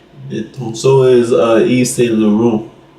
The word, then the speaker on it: Laurent: Lauron. Salon. Eve St. Lauron. Laurent. Elor. E. Laurent. Don't be pronouncing the T. Lauron.